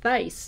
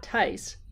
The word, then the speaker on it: Thaiss: It's Thaiss, not Tice, rhymes with ice.